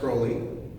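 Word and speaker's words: Crowley: bit more uncurling himself it is pronounced Rowley almost no one has earned it pronounced that way because people didn't say crowling and one of my greatest joys I probably left off the couch when I realized that on this show that we're going to say his name right as if I had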